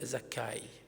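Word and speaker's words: Zakkai: la dans notre traduction Zachée en fait c'est une fausse prononciation cet homme là en réalité s'appelle zachai Zakar osakaï et ce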